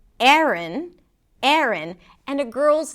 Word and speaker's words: Aaron: A boy's name, Aaron. Aaron and a girl's name, Aaron. Aaron. Yes, they're pronounced the same. The first syllable is a A. And even something closer to an E sound.